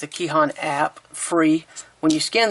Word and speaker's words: KEHAN: use of course is I guess it's pronounced key hon it's a key Han app free when you